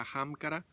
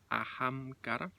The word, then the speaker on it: Ahamkara: vale entonces a macará que significa ajam cara a cara se escribe con h ajam cara si son en realidad